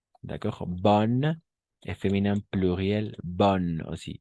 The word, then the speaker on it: bonnes: Bonne et féminin pluriel, bonne aussi. O sea, no pronunciamos las S al final, ni la E.